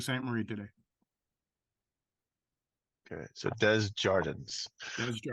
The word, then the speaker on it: Desjardins: It's Djordens. Hard S is a Z. Djordens, yeah. Unless I'm in Sault Ste. Marie, then it's Desjardins. But I'm not in Sault Ste. Marie today. Okay, so Djordens.